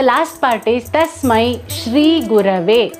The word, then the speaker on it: Gurave: And the last part is Tasmai Shri Gurave, not Guruve, but Gurave. Shri Gurave Namaha. Many tend to mispronounce it as Gurave Namaha by pressing the Na of Namaha, which is wrong.